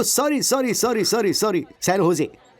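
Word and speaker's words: San Jose: Oh sorry sorry sorry sorry sorry, सैन होजे, SANJOSC। इसकी spelling यही है ना, लेकिन इसमें जे साइलेंट रहता है, इसलिए इसे सैन होजे बोलते हैं।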